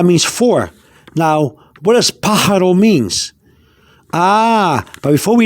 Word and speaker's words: pájaro: a in that word the a has a little line a slanted line going up that means that when you pronounce the pa or the a sound it should go up like a stress like